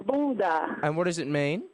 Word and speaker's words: bunda: Yeah, the word is actually not bunga, it's bunda.